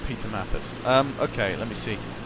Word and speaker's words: Matthysse: By the way, Eric, uh my name is Matthysse, pronounced Matthysse. Um a loads of people get my name wrong, but it's fine.